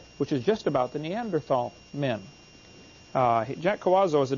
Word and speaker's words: Neanderthal: By the way, in case you don't know, the Neanderthal, the H is silent, Neanderthal man is named